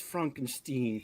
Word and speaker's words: Frankenstein: He's like, actually, it's Frankenstein.